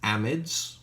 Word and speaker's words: amide: bromide okay last one these are amides sometimes pronounced in the US as a MIDI I just can't force myself to save it that way what we've done is